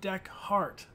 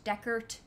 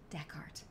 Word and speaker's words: Dechart: playing Detroit exactly and it's pronounced deck heart Dec hard not to chart the chart a not dexhart but Dec heart it's like a heart shape you guys are awesome